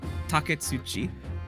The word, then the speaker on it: Taketsuchi: I butchered it last time. Taketsuchi. Taketsuchi Ouchi, that's Taketsuchi Ouchi.